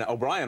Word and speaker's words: O'Brien: I mean, O'Brien rhymes with crying.